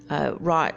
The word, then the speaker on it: wrought: Wrought is spelled not R-O-T, but W-R-O-U-G-H-T. So like wrought, like to make like wrought iron or cast iron, I guess.